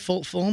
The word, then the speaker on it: Fulham: Am I pronouncing it right? Fulham?